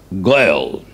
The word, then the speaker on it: Gael: the simple word grail spelled g-a-e-l but pronounced goyal as in finnig yield